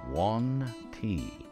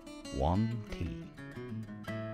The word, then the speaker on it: Yuan-ti: And that's how you pronounce them, Wanti. Wanti. Wanti. So if you're trying to remember how to pronounce them, they're very wanty.